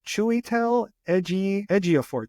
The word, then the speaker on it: Chiwetel Ejiofor: He's Chiwetel Ejiofor. Chiwetel Ejiofor. I know. It's a hard name to pronounce.